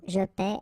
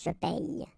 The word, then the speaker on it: paie: Okay, and in that case it's quite funny because we tend to make the difference maybe in pronunciation, so between this one, je paie, and then some persons can pronounce je paye.